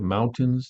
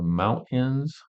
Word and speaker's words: mountains: Instead of mountains, they're mountains. There's no T. They forget to put the T in there.